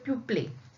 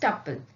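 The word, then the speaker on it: tuple: Okay, और some people call it एज ए ट्यूपले, बट इट is pronounced as टप्पल.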